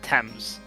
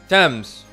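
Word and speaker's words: Thames: comes back up again that's pronounced temps temps cool like Tammy why do you why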